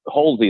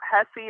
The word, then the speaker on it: Hulsey: As long as it's not Hussey or Husley or every other way that it's mispronounced, I'm good.